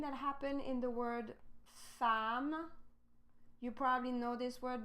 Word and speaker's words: femme: Femme, we don't say femme, we say femme. So E-M-M, we change the sound with the sound A.